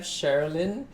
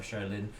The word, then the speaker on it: Cherilyn: So the CHER part of Cherilyn is pronounced as Cher, I guess, right?